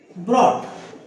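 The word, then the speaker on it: brought: ब्रॉट। ये you silent या you silent.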